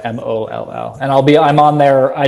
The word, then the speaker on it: Moll: Sounds like A, pronounced O, MOLL.